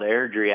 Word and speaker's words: Airdrie: Alberta Canada Way Out West little town called air-dry am i pronouncing that correctly boys Ellen's called Airdrie actually what's the prevailing joke about your hometown